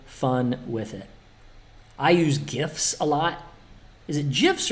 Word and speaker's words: GIF: I use GIFs a lot. Is it GIFs or GIFs? I think it's GIF with a hard G.